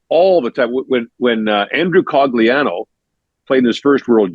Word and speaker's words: Cogliano: People were screaming at me via email, like, it's Cogliano, you idiot. And I'm like, talk to his dad, Carm, who I know because Andrew played with Mike McKenzie, Bob's son, at St. Mike's. Talk to Carm. He says Cogliano. You cannot say your own name wrong. But you actually can't.